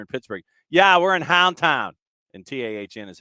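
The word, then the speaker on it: Houndtahn: I'm staring at the hashtag I'm sure I'm mispronouncing it back yeah t-a-h-n you know there it's it's Hound it's Hound town to the rest of us but when you're in Pittsburgh yeah we're in Hound town and t-a-h-n is how you end up spelling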